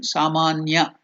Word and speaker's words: samanya: I shall tell you the spelling, samanya, S-A-M, sam, A, saman, N, S-A-M-A-N, ya, Y-A. So here ma is elongated, you have to stretch it.